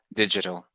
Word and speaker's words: digital: like rounding around so the word digital is actually a little strange because usually it would say but for this word we say j yeah for this one we say digital which is unusual because that doesn't normally happen with g but in most cases